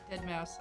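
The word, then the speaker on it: deadmau5: music by dead mouse right dead mouse i forget that's how it's actually pronounced heather some good titles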